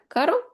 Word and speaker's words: caro: Caro with one R, it's expensive, and carro with the two R's, and the way this sounds, it's a car.